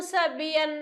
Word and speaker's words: sabia: A palavra sabia. Sabia. Que é pronunciado com maior intensidade, como a sílaba com maior intensidade é o bi.